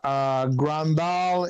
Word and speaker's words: Grandal: Grandal. Am I pronouncing it right? Yeah, Grandal is from.